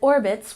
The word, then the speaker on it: orbits: And orbits, we stress the first syllable.